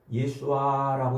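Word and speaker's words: ישועה: 그런 어 말인 거예요.이 구원이라는 말은 예수아라고 이렇게 발음을 해요.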